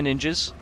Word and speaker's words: ninja: No, say it right. It's ninja. Ninja. There you go. How was that? Was that good? That was better. Was that good? Yeah, because in Japanese, the ni makes like a ni, because the